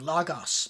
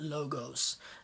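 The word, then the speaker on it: λόγος: o pronounced right so when i have something um that ends in that short o in greek i have lagos because omicron is a different sound not logos uh does latin follow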